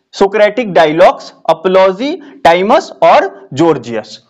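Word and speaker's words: Gorgias: में लिख दिया है जॉर्जियस पढ़ना है। बहुत सारे लोग गोर्जियस भी पढ़ सकते हैं, पर इसका उच्चारण जो होता है जॉर्जियस होता है, इसलिए आपको इसको जॉर्जियस बोलना है।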